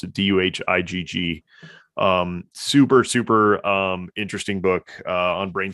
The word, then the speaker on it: Duhigg: I think that's how you pronounce it. Duhigg.